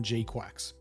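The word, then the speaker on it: GQuuuuuuX: I'm sure if you just typed in Gundam GQ, it would it would turn up with something, but it is pronounced Gundam Gquax.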